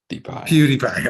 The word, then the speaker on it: PewDiePie: It's PewDiePie. Is that how you say it? It's more like PewDiePie. PewDiePie.